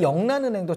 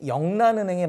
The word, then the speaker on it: 영란은행: 그러니까 국왕한테 맡길 수 없으니 민간은행인 영란은행에 맡기겠다. 잉글랜드 은행에 맡기겠다. 그래서 잉글랜드 은행이 그 화폐 발행권을 요구를 합니다. 영란은행 제 이름이 그러니까 명칭이 영란은행이라서 그러는데 이게 그러면 한자로 발음을 잉글랜드를 발음하면 영란으로 발음을 한다고 그래요.